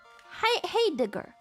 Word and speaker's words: Heidegger: Heidegger.